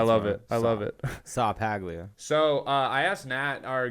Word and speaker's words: Ceppaglia: at the start like your name on here is spelled saw paglia because it's going to be easier dude that's your white boy name i love it i love it saw paglia so i asked nat